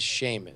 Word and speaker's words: Samus: How do you pronounce the name of the main chick from Metroid? Is it Samus? I've always heard it as Seamus. Seamus. Okay. Well, Samus. Sorry. Her name is Sammus, and yeah, it's spelled in the game. It's spelled Samus. But she goes by Samus, copyright purposes or whatever.